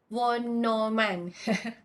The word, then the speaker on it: von Neumann: the first version's name which is called as one newman model okay pronunciation is one no man so you can try to look into how